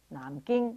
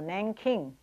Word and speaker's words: Nanjing: Nanjing is pronounced Nanjing or Nanking. That was the old spelling.